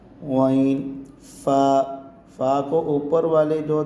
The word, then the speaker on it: غین: کا کریں گے۔ عین۔ غین کو بھی ہم حلق سے ہی نکالیں گے۔ غین۔ فا کو اوپر والے